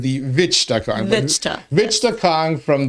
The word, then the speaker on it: Vichtcha: our Inside Lowell studios by our good friend Vicha Kong. Did I pronounce that correctly? Close, Teddy, close. All right. Vichta.